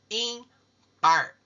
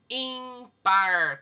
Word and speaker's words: ímpar: Os pedacinhos da palavra quando nós pronunciamos. Impar.